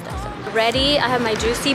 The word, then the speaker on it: Daiso: It's Daiso.